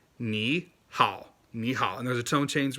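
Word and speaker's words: 你好: It's ni hao, right? Ni hao. It's not ni hao, it's ni hao. Get those tones right, right? Ni hao. Ni hao.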